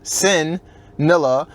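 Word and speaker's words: CINN'NILLA: Pronounced sin, as in sinning, CINNNILLA.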